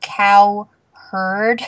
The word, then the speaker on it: Cowherd: can call him Coward. No. Cow. Wait, his last name's actually Cowherd.